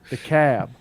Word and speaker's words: DeKalb: But DeKalb. yeah, the cab. Yeah. DeKalb is DEKALB, Mm-hmm. but the L is silent. Yeah. But in Illinois, it's not silent.